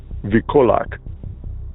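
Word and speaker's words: wilkołak: The V sound in Polish is not spelled with a V, it's spelled with a W. So instead of being spelled Wilkulak as in V-E-A-L or something like that, it's W-I-L, Wikulak.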